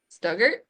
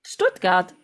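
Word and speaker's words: Stuttgart: Um I always say the name wrong because I don't I don't think I was ever told how to say it correctly. But Stugart Stuggart Stoutgart.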